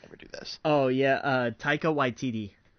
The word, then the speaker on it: Taika Waititi: How you pronounce his name? I can never do this. Oh yeah, Taika Waititi.